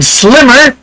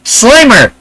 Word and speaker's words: Slimer: We got Alpha coming in saying Slimmer, and then Fitzchoso says Slimer. But I do think Alpha meant Slimer, not Slimmer. I don't think he realized Slimer is spelled with 1 M, not 2.